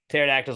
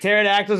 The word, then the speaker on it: pterodactyl: I don't know and pterodactyl is also cool because it's spelled with a p and so you forget